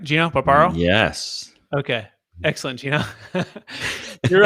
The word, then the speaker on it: Gino Barbaro: I'm going to make sure I pronounce that right? Gino Barbaro?